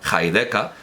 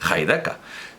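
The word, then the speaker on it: Heidegger: valde casas ni reactor siempre pronunciaba heideca porque así es como pronunciaba su nombre Martin heideca Lo preguntaba entonces claro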